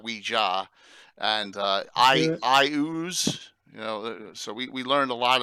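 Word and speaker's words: Iuz: Now, I don't know that that's what Gary called it, but I thought it made perfect sense that I ooze.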